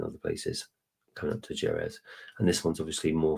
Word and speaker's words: Jerez: And of course, we've got the Macallan, the new Jerez, that's how you pronounce it, which for those people who don't